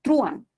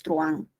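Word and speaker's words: truhán: La única razón es si la palabra fuera pronunciada como truán. Y tú sabes que en efecto nadie pronuncia truán. La palabra es truán. Entonces, igual, esa U no tiene mayor fuerza de voz.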